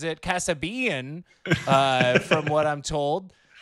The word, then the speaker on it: Kassabian: this evening is uh joe as his family pronounces it casabean uh from what i'm told nailed it